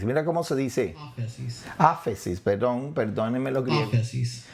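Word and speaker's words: ἄφεσις: que se usa aquí es la palabra aquí afisis. Okay, esta palabra en griego la tengo aquí. Afisis, perdón y olvidar. Okay, pero mire, mire, mire bien, mire bien. Afisis, mira cómo se dice. Asis. Afesis, perdón, perdónenme los griegos.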